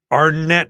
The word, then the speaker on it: Arnett: the music sure who wouldn't be and it's pronounced your last name how does it aren't it it's our net heart our net oh cause that okay so